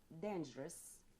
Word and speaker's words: dangerous: what about dangerous uh dangerous yes uh the stress is on the first syllable then jiras dangerous yes